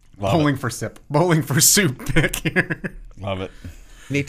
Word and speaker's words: Bowling for Soup: Yeah, this is the bowling for sip soup. Love bowling it. For sip. Bowling for soup. Pick here. Love it. Need to pronounce it properly.